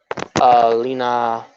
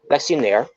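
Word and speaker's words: Lexy Nair: Lena. Wait, is it Lena? I could swear it was Lexi. Yeah, yes, Lexi Nair.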